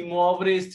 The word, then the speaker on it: Moivre: The pronunciation is Moivre. It's a French word.